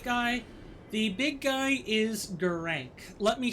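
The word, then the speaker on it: Gurranq: how to say his name and it is gerank but he is a clergy beastman who is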